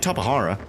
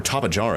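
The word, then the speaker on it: Tapejara: Yeah, he doesn't like Tapahara. or Tapajara, as some of you guys are pronouncing in Ark for some reason, but I'm pretty sure it's Tapahara.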